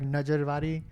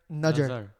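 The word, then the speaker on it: nazar: And like, you've ever gone to like a priest and like Najarvari? I think I said it wrong completely, No, but yeah, you got it. like for me, Nuzzer? Najar. Like Najar.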